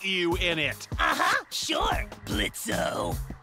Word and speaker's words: Blitzo: Sure, Blitzo. The O is silent now, bitch.